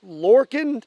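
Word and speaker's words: Lorcin: And the gun I'm using, I believe, is pronounced Lorcan.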